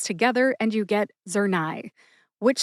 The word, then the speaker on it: Zurnai: Zernia is the brand name and that has two syllables. Zur, which rhymes with sir, as in Sir Lancelot from the King Arthur legend.